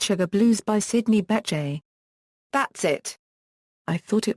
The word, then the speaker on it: Bechet: A running joke is that his housekeeper keeps pronouncing the name Beckett rather than Bechet.